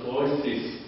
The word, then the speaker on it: Cloisters: 我们按照英文翻译是 cloisters，但是呢，他们我听到他们管人是 cloises，那个 T 不发音，那里面